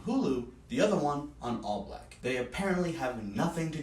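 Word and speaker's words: ALLBLK: film upon further investigation all black is what I'm assuming it's pronounced is quote the first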